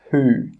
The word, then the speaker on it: who: And the letter W can also be silent in many words, such as who.